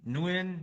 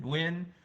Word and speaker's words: Nguyen: Or Nguyen, win, like I win the game.